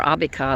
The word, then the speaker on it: Abika: The Arbeca, or Abika is what they got the pronunciation for.